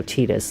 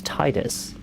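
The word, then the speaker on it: Tidus: It just It's like when people call Titus Tetus, you know, from Final Fantasy 10, people are like, "Oh, Tetus this." I'm like, "It's Titus. It's Titus. It's not Tetus."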